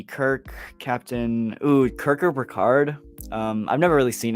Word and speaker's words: Picard: one that picards it Picard I keep saying per card I know it's Picard I pronounce it wrong too um I don't